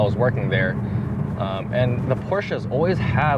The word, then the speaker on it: Porsches: of Beamer fans like Porsches. Or Porsches, sorry about that. The right way to pronounce it.